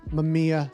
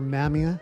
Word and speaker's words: Mamiya: And that of course is my Mamia 7 or Mamia 7 as you're supposed to say it.